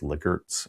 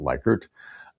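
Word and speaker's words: Likert: and the surveys at this time used Renis lickerts uh it's actually pronounced lickert not liker uh wensis licard's scale of strongly agree agree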